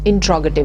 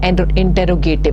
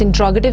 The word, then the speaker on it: interrogative: The word is interrogative. It's not interrogative. Most of the times you might have heard people pronouncing it as interrogative. It's interrogative sentences, and they are used to ask questions.